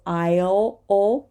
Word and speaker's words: aisle: a dark El so aisle and we do not say this s either right so it's like I'll like I'll go there I'll and here